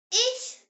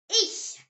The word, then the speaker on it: Ich: I pronounced E like the E sound in the English word see. Now here's a word you will use all the time in German. Ich, say it. Ich.